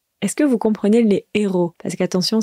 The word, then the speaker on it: héros: Est-ce que vous comprenez les héros? Parce qu'attention, ça ressemble à l'anglais, mais la prononciation est très différente.